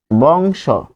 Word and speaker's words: বংশ: আমি বুঝানোর জন্য লিখছি উচ্চারণে ও হবে কিরকম যেমন বংশ তাহলে তালব্যসকে ভাঙলে হবে তালব্য সহ হসন্ত যোগ স্বরে অটি যখন উচ্চারণে যাবে তখন হবে বংশ স উচ্চারণে যাবে বংশ